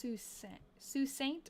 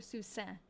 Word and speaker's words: Sault Ste.: Oh, it's pronounced Sault Ste. Or Sault Ste.